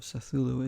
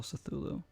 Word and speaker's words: Cthulhu: it's call of cthulhu call of cythulu is the way to pronounce it i believe c-t-h-u-l-h-u call cythulo really excited to try